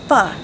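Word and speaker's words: Pho: Why not make Fu, spelled P H O, pronounced Fu.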